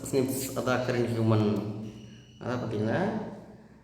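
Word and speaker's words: SNPs: அதாவது ப்ரொனவுன்ஸ் ஸ்னிப்ஸ் அதான் அக்கரன் ஹியூமன்.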